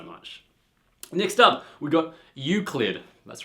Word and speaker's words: Euclid: Next up, we got Euclid. That's right, I learned how to pronounce it now.